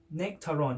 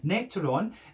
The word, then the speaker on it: Nectaron: So this one is hopped with Citra and Nectaron.